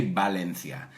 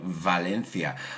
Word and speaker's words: Valencia: Yo soy americano. We don't say Valencia. Right, Valencia. Laura from Rome, the eternal city.